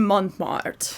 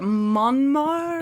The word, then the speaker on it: Montmartre: christian's apartment we're in montmartre yeah how do you say it monmar it would be montmart because it's m-a-r-t-r-e right there's two so